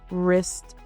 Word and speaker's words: wrist: Silent W often appears before R. Examples include right, wrong, wrist, and wrap. Even though the spelling starts with W, the sound starts with R.